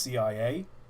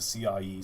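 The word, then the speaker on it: CIÉ: out actually the E, because it's got a little apostrophe above it, um, it's pronounced A. So, the railway company should be pronounced CIA, but obviously doing a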